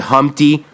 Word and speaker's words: Humpty: master, could ever put Humpty back together again. So stop what you're doing, because I'm about to ruin the image and style you used to. My name's Humpty, pronounced with umpty.